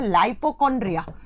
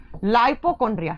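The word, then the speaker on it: lipochondria: इसे कहा जाता है लिपोकॉन्ड्रिया। अभी बात करेंगे हम इंग्लिश में, जब आप प्रोनाउंस करते हो तो आप इसे कर सकते हो लाइपोकॉन्ड्रिया, लाइपोकॉन्ड्रिया। हिंदी में लिखा जाता है लिपोकॉन्ड्रिया।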